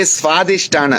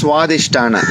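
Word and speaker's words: स्वाधिष्ठान: It's like you don't say Swadhisthana, it's Swadhisthana. You don't say Swadhyaya, you say Swadhyaya. So that wa, so that wa. It's that combination where the V is becoming a W.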